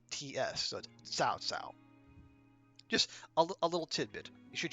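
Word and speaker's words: 曹操: people here uh I know that looks like cow cow it is not it is actually it's pronounced like TS so South South just a little tidbit should you ever need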